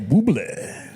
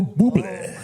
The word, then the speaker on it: Bublé: Michael Bublé. You ain't getting on. Just say Bublé. just say Bublé because it's fun. I did say Bublé. No, see, you said do it after- right. You gotta go Bublé.